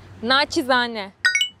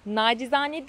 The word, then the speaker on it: naçizane: ama mesele gördüm nacizane naçizane naçizane Bu benim sana nacizane tavsiyemdir benim de sana naçizane bir tavsiyem olacak o da nacizane değil naçizane şeklinde telaffuz etmem gerektiği WhatsApp grubumuza Katılmak ister